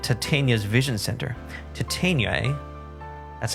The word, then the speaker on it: Titania: you can't and he says that looks like titania's vision center titania that's how you pronounce it okay um detective later did you